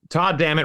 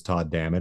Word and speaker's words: Todd Dammit: Well, Todd Dammit rhymes with God damn it, so that was kind